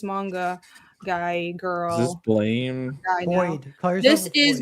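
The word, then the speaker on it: Blame!: apparently the intended pronunciation is blame, but it's fucking spelled with an E.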